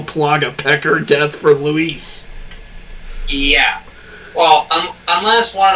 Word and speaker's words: Luis: name correctly this time it's not Lewis r-o-g-r-e for Leon it's Luis Sarah now I'm just